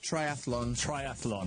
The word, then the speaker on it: triathlon: Triathlon. Do you know how to spell it, by the way? No. It's thlon. Thlon. It's not full-on. Okay.